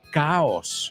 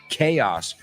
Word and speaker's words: chaos: Words like chaos, that I've heard a lot of people mispronounce and say caos. Sure, in español, pero en inglés it's chaos.